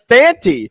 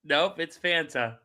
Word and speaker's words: Fanta: sounded like you said Fanti, not Fanta. And I looked at DB, I go, "Is it Fanti? Have we been saying it wrong?" Sometimes you know that. It's Fanta. It's like Fanta. the soda.